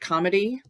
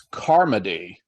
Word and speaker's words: Carmody: Is it comedy? I think it's Carmody. Carmody.